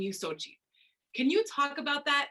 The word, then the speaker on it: Xochitl: hi my name is sochi pronounced phonetically as s-o-c-h-i or s-o-c-h-i-l sochi my pronouns are she